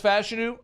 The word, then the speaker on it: Fashanu: Saw a press conference with our guy Olu pronouncing his name. Okay, so we have confirmation now. Fashanu. Not Fashanu. Fashanu. All right. From the source. He says Fashanu.